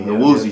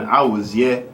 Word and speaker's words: Awuzie: But then the last name is Awuzie. That's what I was raised people calling me, Awuzie. So that kind of, you know what I'm saying? That's just a pronunciation that I'm cool with. But then Awuzie, that's like the Nigerian, like straight up Nigerian way of saying it.